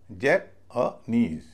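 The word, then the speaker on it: Japanese: बोला जाएगा इज लेकिन स्ट्रेस के कारण उससे पहले वाला सिलेबल हल्का हो जाएगा।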